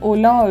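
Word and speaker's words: hola: particular word so in Ola also H is silent so we pronounce it as Ola however when we write it it's h o l a okay and then how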